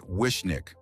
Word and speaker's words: Wishniak: It's called Black Cherry Wishniak, pronounced Wiśnik. The name comes from the Polish word wiśnia, meaning sour cherry.